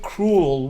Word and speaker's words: cruel: And I think cruel will be one syllable from us. Cruel, like rhymes with cool, I think.